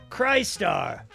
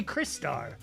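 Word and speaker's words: Crystar: again soon so keep a lookout for that cry star i always pronounce it cry star yes that's same same for me i i say cry star some people say cristar doesn't sound right but i think that is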